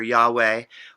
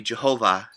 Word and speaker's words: Yahweh: allah it sounds like we often say here yahweh or the old german mispronunciation would be jehovah because of the pronunciation of the consonants differently